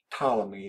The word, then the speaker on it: Ptolemy: Greek philosopher named Ptolemy Ptolemy that P is silent and Ptolemy you said